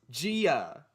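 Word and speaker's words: Jia: It's not even that hard of a name to pronounce. Gia. It's 2 syllables, man.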